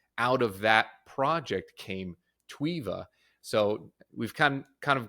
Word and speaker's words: Tweva: to correct that name twea it's actually we pronounce it twea it's more like the TV TWA um but